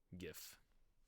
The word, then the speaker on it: GIF: i think the first the g is graphical so like by that logic it should be like a soft g sound i think gif i don't know that's just what i think uh anyway i guess